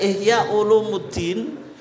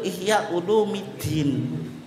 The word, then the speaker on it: Ihya Ulumiddin: itu aljilani tapi muda kayak Ihya Ulumuddin itu yang betul Ihya ulumiddin tapi kalau jenengan suruh